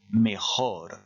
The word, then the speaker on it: mejor: Beaucoup d'entre vous auront la tentation de remplacer ce J par un Y à cause de mayor qui se trouve plus bas et à cause de la prononciation en français meilleur. Faites bien attention, vous avez ici un J et on prononce bien mejor.